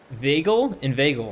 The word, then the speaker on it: inveigle: Say inveigh, nay, but inveigle, I think that's how you say that. Make the latter rhyme with eagle.